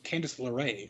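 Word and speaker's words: Candice LeRae: have seen it um what is your name candace or candace larae that's how you pronounce that posted on social media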